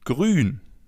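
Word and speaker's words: grün: As you already know, the oo with the two dots on top is pronounced oo as in grun.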